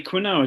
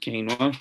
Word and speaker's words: quinoa: people think about quinoa oh i bet you stay quinoa don't you it's pronounced quinoa you know of course about